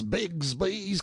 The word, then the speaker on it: Bixby: manner are you Horus bigsby's Cub Bixby being usually pronounced Bigsby in River parlins Sam answered politely enough